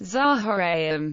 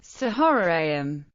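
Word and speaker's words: צהריים: For example, when unhyphenated, is pronounced kal rather than kol, and is pronounced Zahoraim rather than Sahoraim.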